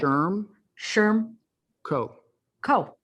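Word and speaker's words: Shermco: It's 2 syllables. You ready? Yeah, let's do it. Sherm Co. Easy. Sherm Co. I mean, it's so easy. And I even had my mnemonic device, which is it rhymes with germ, and I still screwed it up.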